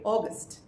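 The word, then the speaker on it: august: আগস্ট noun, একটা মাসের নাম, তোমরা সকলেই জানো, কিন্তু এই ক্ষেত্রে দেখো স্মল লেটারে শুরু হচ্ছে, উচ্চারণটা হয়ে যাবে অগস্ট।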